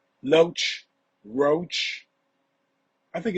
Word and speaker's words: Loesch: do know that you're name rhymes with roach right Loach Roach I think it's